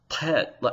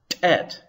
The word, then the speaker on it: tet: But whether you pronounce pet, as I do, with an Arabic sort of pronunciation, almost as if you're swallowing the back of your tongue, pet, or if you use an Ethiopic Semitic sort of pronunciation, tet, it doesn't really matter.